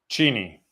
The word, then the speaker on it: Cheney: I think is this Cheney, Washington. How do I pronounce this? Cheney.